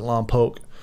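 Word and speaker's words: Lompoc: up my time at Lao they pronounce it l pooke but um in California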